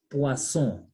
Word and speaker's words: poisson: You know, poire, poisson. Then the next one is poison. I told you single S between 4 and Z. Double S, S sound retained.